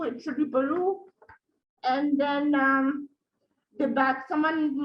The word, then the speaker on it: Peru: And then also someone mispronounced Peru, it should be Peru.